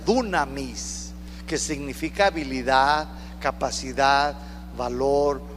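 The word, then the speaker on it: δύναμις: poder de su resurrección esta palabra poder en griego se pronuncia dunamis dunamis significa habilidad capacidad valor poder para hacer Milagros se lo voy a repetir esta palabra poder se pronuncia dunamis que significa habilidad capacidad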